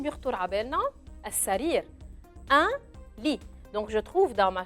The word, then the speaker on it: lit: Un lit. Lit se termine à la fin avec un T. ما بدنا ننسى انه بنحط T بس ما بنلفظه. C'est une lettre qu'on écrit mais qu'on ne prononce pas.